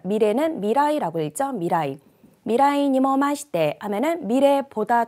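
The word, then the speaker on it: 未来: 자, 루루가, 자, 미래는 미라이라고 읽죠. 미라이.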